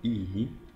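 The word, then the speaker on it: 良い: Es el kanji para, se pronuncia i, que significa bueno. Así se escribe, i. Lo pueden oír mucho en el anime, i, bueno.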